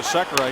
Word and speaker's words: Sekera: Sekera, we call you Sekera. He said, you can call me whatever you want. I said, how do you pronounce it in your house? He said, Sekera. So we'll go with that.